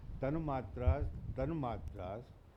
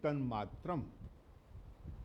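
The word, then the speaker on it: तन्मात्रम्: That is why, see, all these things, tanmatras, this is not tanmatra. The word is tanmatram.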